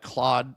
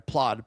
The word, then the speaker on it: Plaud: And this uh Claude or I'm sorry, Plaude.